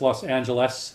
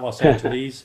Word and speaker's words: Los Angeles: this will be the lesson for everybody it's Los Angeles not-not-not los entities I know it is Houston now Houston you